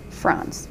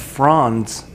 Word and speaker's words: fronds: needs to have thicker fronds, okay? Does that make sense? Yes, it does. Do you see what I'm saying? And fronds is spelled F-R-O-N-D-S. I thought you were saying frond, like F-R-A-W-N.